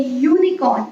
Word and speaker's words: unicorn: When I say unicorn, I say y.